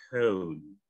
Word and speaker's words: cone: Itu ada huruf O belakangnya huruf E. Itu namanya silent E. Huruf E-nya jangan dibaca. Itu silent. Ya, kalau E di belakang jangan dibaca. O-nya jadi e. Jadi bacanya cone.